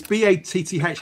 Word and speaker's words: Bath: Is it Batter or Bath or It's B A T H? How do you pronounce it that way? Bath. Bath. Yeah, I'd say Bath. Danny Bath.